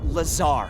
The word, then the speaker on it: Lazar: and its sales liaison it's Lazar actually Accent on the Tsar but yes I'm your